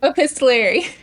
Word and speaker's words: epistolary: Epistolary.